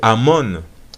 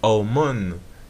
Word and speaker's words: Amon: on nous dit que amon qui se prononce amon ou omon signifie la multitude donc